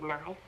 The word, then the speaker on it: knife: So are the K and E in the word knife. When we listen or say the word knife, we hear only the letters N, I, and F. The letters K and E are silent.